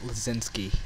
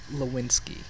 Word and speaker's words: Lewinsky: ass dave flussen look i always pronounce it lesinsky even though it's lewinsky liz l-i-z-e-w-s-k-k-i ki k-i